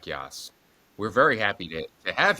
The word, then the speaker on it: Yoss: Jack Yoss, which, do you ever tell people, are they like, how do you pronounce it?